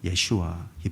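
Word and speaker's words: ישוע: 말이에요 예수님을 구원자라고 하잖아요 예수님의 이름을 이름 그대로 발음할 때는 예슈와 이렇게 말하는 거고 또 다른 구원자 할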